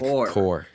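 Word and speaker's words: Kuhr: I was like wait a minute what they have the same name but it's Zack Zack Core. It's spelled Kirk.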